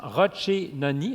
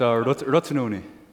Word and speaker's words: Rotunoni: Alors, j'ai prononcé phonétiquement Rochenoni. Est-ce que c'est bon? Close. Correct? It's Rotunoni.